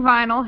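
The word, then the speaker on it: Vnyl: So, that's spelled V N Y L. So, like vinyl without the I.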